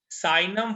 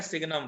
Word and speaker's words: signum: अब हमारा जो अगला फंक्शन होगा, that function is known as साइनम function या सिग्नम फंक्शन, जो आप कहना चाहें, लोग उसको जी साइलेंट रखकर बोलते हैं, साइनम फंक्शन।